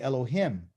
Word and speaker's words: Elohim: should explain that too in english they spell it l o l o and they say heme but it's really elohim okay elohim okay the